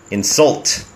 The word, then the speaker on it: insult: อย่า ดู ถูก ชั้น insult me don't insult me ถ้า ออก เสียง ว่า insult นะ อ่า ก็ คือ เน้น พยางค์ แรก ครับ insult ก็ จะ แปล ว่า คำ ดู ถูก นะ ครับ แต่ นี้